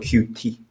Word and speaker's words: Qt: but you guys me it's called cutie it's not the cute company has clarified this